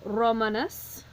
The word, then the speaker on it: Romanus: of the two and this one a three syllable word starting at the end going back one asking is it long it is so our accent is on the MA for Romanus now when we flip